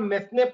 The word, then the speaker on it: mesne: There are various decisions which say that an amount received against a wrongful possession is called mesne profits. It is pronounced as main profits, M-E-S-N-E. Such main profits are also regarded as capital receipts in various cases.